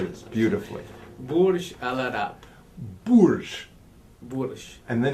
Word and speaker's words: Burj Al Arab: Burj Al Arab.